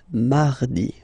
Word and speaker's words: mardi: So you can hear that you don't pronounce it that strongly, this R. Mardi, mardi, okay?